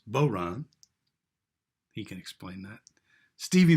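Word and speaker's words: bodhrán: with the man who taught me how to pronounce boron he can explain that stevie matier howdy stevie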